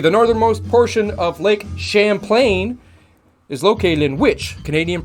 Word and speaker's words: Champlain: The northernmost portion of Lake Champlain, Champlain, that's how it's pronounced, Champlain. The northernmost portion of Lake Champlain is located in which Canadian province?